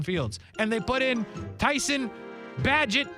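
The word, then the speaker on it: Tyson Bagent: and they put in Tyson badget I believe is how you say his name is what I was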